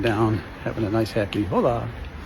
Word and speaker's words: hola: But this is a very happy and it's always the emphasis is on the second syllable. Hola.